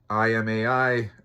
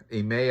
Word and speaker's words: Imai: Imai, Ime, I think is how you pronounce it in English, but it's Ame, whatever the fuck it is.